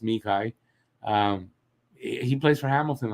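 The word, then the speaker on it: Xhekaj: that kid arbor um as habitation calls him jackeye it's i think it's pronounced mikai um he plays for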